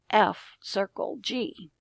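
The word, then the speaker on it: f ∘ g: The name of the composite function is f circle g, pronounced f circle g.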